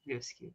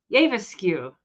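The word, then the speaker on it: æbleskiver: It's Avaskew. That's how we always say Avaskew.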